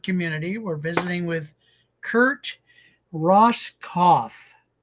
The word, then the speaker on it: Roskopf: we're visiting with Kurt Ross cof so the p is silent that's all I have